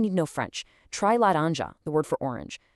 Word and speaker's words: laranja: Try laranja, the word for orange. The nasal ã right in the middle perfectly maps to the ang sound in the English word sang.